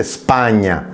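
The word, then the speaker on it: Spagna: donde yo hablo precisamente de la S impura y doy como ejemplo España, la palabra España, que se pronuncia sin la E.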